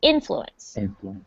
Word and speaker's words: influence: um for pronunciation uh the emphasis is on the first syllable so it's influence influence that's the most important syllable that first one not influence or influence it's influence okay so when you influence